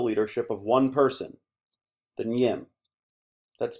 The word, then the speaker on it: Nyim: The Kuba people all follow the leadership of one person, the Nyim. That's spelled NYIM.